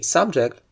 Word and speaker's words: subject: In a similar way, subject, which is something that is being discussed or considered or studied, requires that the first syllable is stressed if it's a noun or an adjective.